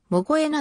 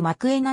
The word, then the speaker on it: Mokoena: がボランチもできる発音はも声なではなく膜炎がのほうが正しい南アフリカの所も